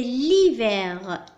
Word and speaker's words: hiver: الآن la lettre H هنا لدينا c'est l'hiver l'hiver. هنا تلاحظون بأن الحرف H بقي صامتا لم ننطقه قرأنا فقط le L